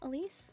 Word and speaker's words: Alise: Is that how you pronounce her name? Alise? Yep, that's it.